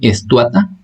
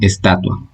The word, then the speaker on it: estatua: Por ejemplo, no se dice estuata, sino estatua.